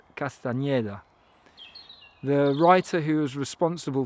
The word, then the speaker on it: Castañeda: Today I am celebrating Carlos Castanada or I think more accurately pronounced Carlos Castaneda, the writer who is